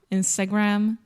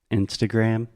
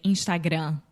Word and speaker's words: Instagram: the final m Portuguese we don't close our mouth so we say Instagram without closing the mouth right we are smiling when we say Instagram um also it comes